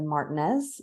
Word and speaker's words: Martinez: of our savior in Martinez uh if you're new to Georgia yes I said Martinez that's how we pronounce it here uh we are very